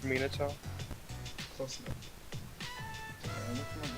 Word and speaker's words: Minato: Actually, it's pronounced Minato.